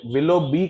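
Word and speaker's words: Willoughby: जाती थी okay lobby इसे विलो बी कहा जाता है पर स्पेलिंग यही है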